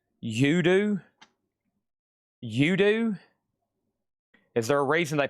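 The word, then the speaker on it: U.D.O.: UDO is pronounced Udoo. Udu.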